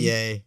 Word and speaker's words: Ye: Well, to yay. Yeah, he's trying to. Just yay. He's trying to. That's how you pronounce it?